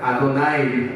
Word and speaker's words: 아도나이: 말해서는 안 되겠다라고 해서 이 글자를 읽지 않고 이걸 뭐라고 말하면 아도나이를 말합니다. 아도나이. 야훼라고 발음하지 않아요? 이 글자를 보면 아도나이라고 얘기합니다.